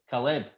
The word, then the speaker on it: Caleb: Like, his first name, I've nailed it. It's like Celeb, but with an A. So it's Caleb.